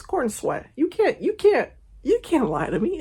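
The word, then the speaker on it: Corenswet: Someone said David Cornsweet, but they spelled it corn sweet. That is not how you spell it. That's not, is it? Is that how you say it? Is it corn sweet? No, it's corn sweat.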